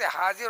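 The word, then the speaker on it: هاجر: ہیں۔ حضرت حاجر سے، جو ہم آپ لوگ حاجرہ کہتے ہیں، صحیح صحت تلفظ حاجر ہے، وہ عربی لفظ نہیں ہے۔ ان سے پیغمبر اسماعیل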